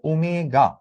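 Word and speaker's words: ω: এইটার উচ্চারণটা হচ্ছে ওমেগা।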